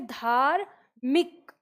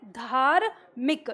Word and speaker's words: धार्मिक: र ले तो ये धारमिक ऐसे होता तब हम इसको क्या बोलते धार्मिक लेकिन हम क्या बोलते हैं धार्मिक र जो है वो बहुत जल्दी से उच्चारण होता है तो यही